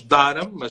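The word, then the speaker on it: Durham: a primeira cidade de volta à inglaterra duram pronunciamos dar uma pessoa escrevemos duram e esta cidade é conhecida como a cidade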